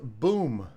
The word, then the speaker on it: bum: His name is pronounced boom.